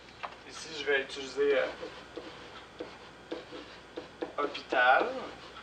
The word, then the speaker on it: hôpital: Ici, je vais utiliser hôpital. Parce que le H, c'est comme une voyelle. Hein, c'est une lettre qu'on ne prononce pas.